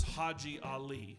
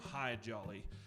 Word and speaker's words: Haji Ali: Along with those camels came camel drivers, and one of the camel drivers' names was Haji Ali, but nobody could say his name correctly. They called him Hi Jolly, and he's buried in Quartzsite, Arizona now.